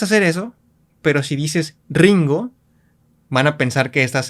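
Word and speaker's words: りんご: No puedes decir Ringo, es Ringo. Ringo. Pues lo pronunciaríamos con el sonido inicial de una R.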